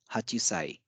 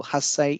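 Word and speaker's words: hassai: numeral is Hachi but eight years old is not Hachi Sai it isai so again similar to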